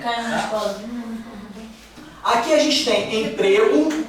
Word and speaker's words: emprego: Aqui a gente tem um um ezinho fechado, emprego. E aqui a gente tem um ezinho aberto.